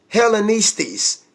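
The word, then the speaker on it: Ἑλληνισταί: Greek 1675 greeson's and the Greek is hella nice tease that's how you pronounce that so let's click into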